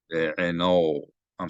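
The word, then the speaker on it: בעיניו: So I mispronounced it as be'eno. It should be be'enoi. So I'm going to say that a few more times to get it into my head. It's not be'eno, it's be'enoi.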